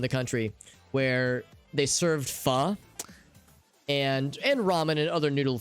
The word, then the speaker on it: pho: city somewhere in the country where they served pho and ramen and other noodle things, but they served, their specialty was pho. And they called them, it was like the King Pho.